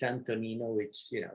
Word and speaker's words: Antonino: actually my name is my first name is antonino but you know too long and complicated to be pronounced in the us uh always mispronounced as antonio many many many many times it's antonino which you know it's a name from the